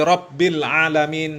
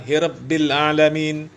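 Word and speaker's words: رب العالمين: Ya, padahal orang Arab kaum muslimin, orang Yaman, ya, harusnya jelas Alhamdulillahi Rabbil Alamin, bukan Hirabbil Alamin.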